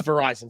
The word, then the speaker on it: Verizon: here's top Fortune 15, rhymes with Horizon telecom company, right? I'm kidding. It's Verizon.